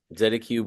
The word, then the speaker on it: Z Cube: is nice gu Cube how do you say that oh Z Cube Zed Cube records yeah that's uh yes